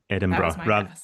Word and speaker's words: Edinburgh: So, it is pronounced Edinburgh. So, it's it sounds like bru at the end, bruh, rather than Edinburgh. Edinburgh.